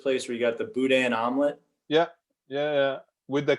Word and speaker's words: boudin: to pronounce it uh well we pronounce it a little bit more like cajun french i guess like boudin yeah the boudin we